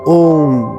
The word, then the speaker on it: ওঁ: গভীর শ্বাস নিয়ে তারপর ধীরে ধীরে উচ্চারণ করুন ওম। এই উচ্চারণটা হবে দীর্ঘ। মানে তিনটি ধ্বনি আলাদা আলাদা শোনা যাবে।